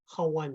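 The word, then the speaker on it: hooghan: Hawan is how you say it in Navajo.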